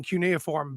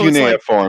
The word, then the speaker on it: cuneiform: Sitchin he was one of 3 people translating cuneiform back then. So Cuneiform, that's how you say it.